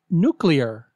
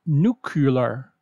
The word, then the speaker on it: nuclear: Wednesday were number 11 say nuclear not nucular new killer no say